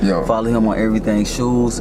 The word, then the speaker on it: Shoose: Shoose, as in it's pronounced like shoes on your feet, Very much so.